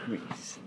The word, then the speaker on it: Reese: name and address please my name is or Reese it's spelled r i SS e Reese okay my address is 1150